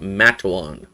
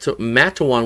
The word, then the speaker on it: Matewan: Mat Matawan, which you called Matewan, was not how you pronounce it. It was Matt and then like a dash and then uh then dash and then Juan.